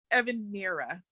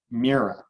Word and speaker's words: Ngmyhre: So tell everyone, Ngmyhre. Ngmyhre, okay. Ngmyhre.